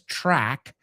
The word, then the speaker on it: track: Track rhymes with rack, rhymes with lack, carecer de, rhymes with pack, rhymes with sack, rhymes with attack.